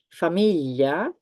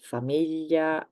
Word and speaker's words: famiglia: Famiglia, family. Moglie, wife. So sound ye. Aglio, famiglia, moglie.